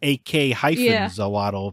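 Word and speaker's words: Ak-Xolotl: Axolotl, but this game is AK-Zolotl.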